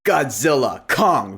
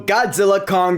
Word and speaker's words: Godzilla x Kong: Godzilla Kong, the New Empire. Yeah, I know the X is silent now. So Godzilla Kong, the New Empire is